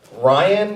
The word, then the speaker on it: Ryan: Ryan is really hard, apparently, for people to say. They often mistake it for Brian. They think my name is Brian. But it's not Brian.